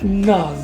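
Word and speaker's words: Nudge: ciencias del comportamiento que se llama not en inglés se pronuncia así y se escribe de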